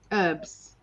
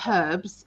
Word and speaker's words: herbs: you just say herb herbs not herbs herbs herbs is that right yeah yeah like colonel colonel sanders recipe has 11 herbs and spices it doesn't have 11 herbs yeah so tell us so here they go herbs christine said herbs herbs you know there's an h in there yeah she's from australia